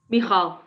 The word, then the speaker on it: Michal: Is it Michael or Michal or? Michal. Michal. Okay, then I said it right then.